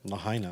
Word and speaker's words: Lahaina: Lahaina.